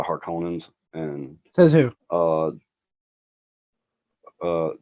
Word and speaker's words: Harkonnens: the hardcore is and i didn't like the way they pronounced harcon and they called them the harkins uh but uh that they're the harkonnens and that's who uh